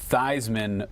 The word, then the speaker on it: Theismann: who by the way probably universally changed the pronunciation of his name while at notre dame uh-huh it was thiesman feesman that doesn't sound so bad right but it doesn't sound as good when you say theisman for heisman that's right my friend